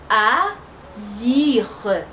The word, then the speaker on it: haïr: Normalement, on peut dire R, parce que A et I, ça se prononce R. Mais on ne dit pas ça, parce qu'il y a le tréma sur I, qui va indiquer que I, il va se prononcer séparément. Alors, ça fait haïr, haïr, haïr.